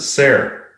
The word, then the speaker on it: Ser: Ser? Is that how you pronounce it? Ser. Like Sarah, but Ser. Yeah. Okay. Like SAR or SAAR or something like that.